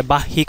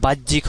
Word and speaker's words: বাহ্যিক: উচ্চারণ করতে পারে না, বয়ে আকার হয়ে ঋষিকার জফালা, তার মানে এটাকে বাহ্যিক উচ্চারণ করে, তো আসলে বাহ্যিক হবে না, এটা বাহ্যিক হবে।